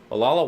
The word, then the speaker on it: Olalla: Olalla, Washington, and we're at a home tiki bar called the Fuzzy Smudge.